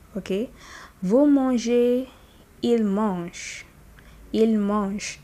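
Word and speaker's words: mangent: Vous mangez, il mange. Il mange. Don't pronounce that NT, just mange, okay?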